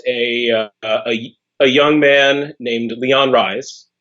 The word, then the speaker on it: Rhise: And this is about a young man named Leon Rhise. The H is silent, of course.